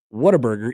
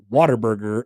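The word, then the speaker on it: Whataburger: correct way to say what a burger, it's waterburger. I have heard I heard the correct way to say it is waterburger, not what a burger.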